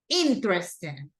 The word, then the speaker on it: Interesting: Interesting. Interesting. So which one do you think it is? Me. Correct. It's the first one. The stress syllable goes in the first one.